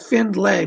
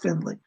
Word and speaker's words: Findlay: that correct sir yes finley it looks like finn lay but it's pronounced finley arthur first name a-r-t-h-u-r arthur finley is working with you